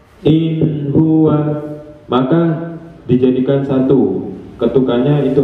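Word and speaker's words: هو: Maka ketika digabung satu ketukan, maka huwa, ya gini, huwa bunyinya. Kalau membacanya itu masih lambat, huwa, berarti bukan satu ketukan, artinya ada tambahan di situ, tambahan panjang, ya. Maka pengucapannya adalah kurang benar karena dibaca panjang. Yang benar adalah satu ketukan karena pendek. Wawunya wa, digabung huwa.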